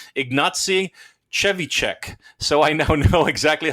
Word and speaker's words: Ignacy Trzewiczek: They have a YouTube video on how to properly pronounce Ignacy's name. Ignacy Trzewiczek.